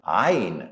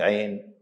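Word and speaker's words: ع: Now, you don't pronounce it straight, Ain or Ghain. Try to add tonation or curve them a little bit to get the right sound. Ain, not Ain. Ghain, not Ghain.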